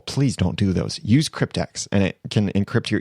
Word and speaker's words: CryptX: prevent spam is using the Crypt X plugin cryptex now that is c-r-y-p-t-x there's another one out there that is spelled EX at the end that's not the